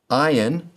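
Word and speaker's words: ע: Ion, like olive, is silent.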